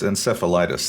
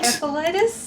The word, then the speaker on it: encephalitis: Encephalitis? And oh, I would have assumed Encephalitis? I would have assumed the soft C.